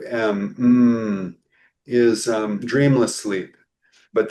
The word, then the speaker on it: Om: And that's you know you mentioned uh the the sacred syllable m well really is a u m in Sanskrit.